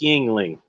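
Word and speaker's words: Yuengling: how to pronounce it it's pronounced yingling and i don't know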